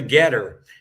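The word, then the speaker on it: GETTR: So if anyone is on Getter, that's spelled Ge TR and it'll be John Good1965 at Jog G1965.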